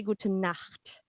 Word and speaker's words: gute Nacht: very important that we pronounce this word right, because if you say it in a different way, it means a different thing. So you want to say gute Nacht.